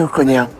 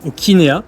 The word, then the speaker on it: Okinea: Alors, qu'est-ce que Oconia? Est-ce que je le prononce bien? Alors, Okinea, Oconia, c'est pardon. ça. Okinea parce qu'on est équine, on est sympa, on est ok.